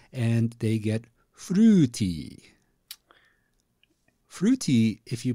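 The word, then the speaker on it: フルーティー: borrowed word from English they basically take the word fruity and they pronounce it with Japanese rules and they get fruti fruity if you pronounce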